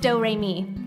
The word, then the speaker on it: Doremi: name is doremi midorikawa it's spelled like notes and pronounced doremi it's one of those